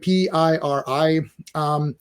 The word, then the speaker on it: Piri: That's how you say it, Piri.